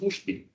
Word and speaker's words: USP: And then I understood, oh yeah, that's why USP is pronounced Ushpi.